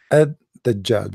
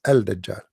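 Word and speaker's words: الدجال: They say Ad-Dajjal because in Arabic here there is L, but they are trying to supposedly to teach you how to pronounce it. So Ad-Dajjal, they make it shorter, but the fact it is Al-Dajjal.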